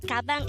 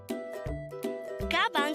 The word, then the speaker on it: 가방: Gabang could be divided into two syllables, ga-bang. Ga is formed from the combination of the sounds of kiak and a, while bang is the combination of the sounds of biap, a, and iyong.